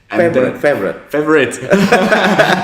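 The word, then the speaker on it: Favoriot: Don't pronounce with the spelling. Forget about the spelling. Just pronounce it. But the spelling is quite cool because it ends with the IoT. So that's why it's called Favorite.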